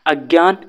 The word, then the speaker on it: अज्ञान: अज्ञान जिसे आप सभी या हम सभी प्रोनन्सिएट करते हैं कि अजान। ठीक है? तो, यह गलत होता है।